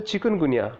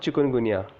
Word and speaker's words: chikungunya: It is a chikungunya, not chikungunya. To be pronounced as a chick or gunya.